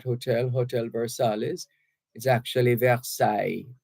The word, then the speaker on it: Versailles: hotel Versailles is actually Versailles v-e-r-s-a-i-l-l-e-s the two L's combine to give you a y sound and the S at the end is not pronounced Versailles after days of